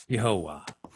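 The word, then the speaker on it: Yehovah: all together in Hebrew the three syllable tetum would have been pronounced yahovah now take this example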